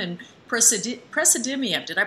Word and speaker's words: praseodymium: know what that is of course, neodymium and praseodymium. Did I pronounce that properly?